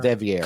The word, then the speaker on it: De Vere: And did I mispronounce his name? De Vere. De Vere.